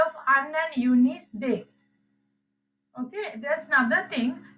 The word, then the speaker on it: des: You are pronouncing this last s when the noun is starting with the vowel only.